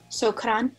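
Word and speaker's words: شكرا: Do you roll your R? Shukran. It's more like a rolled R a little. Okay. Shukran.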